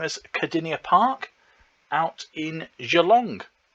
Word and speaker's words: Geelong: Also known as Cardinia Park, out in Geelong, which is not pronounced Geelong, as I thought it might be. So it's difficult with Australians and hard G's, because Kogarah is a hard G. This one isn't.